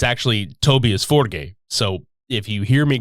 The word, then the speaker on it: Tobias Forge: man of the band most people call him Tobias Forge which he has gone with in several interviews but in his country of Sweden it's actually tobius forgate so if you hear me calling him Tobias